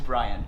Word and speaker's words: Bryant: My name is Bryant. Brian. Eddie. Nice to meet you. Brian or Bryant? Bryant spelled like Kobe Bryant.